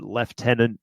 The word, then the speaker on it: lieutenant: about uh lieutenant and how the Brits pronounce it leftenant because yeah it's a